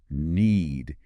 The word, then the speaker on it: knead: It's completely silent. So it sounds exactly like need.